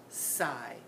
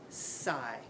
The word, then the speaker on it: sigh: the GH sound in that word at all sigh sigh no you didn't hear it did you let's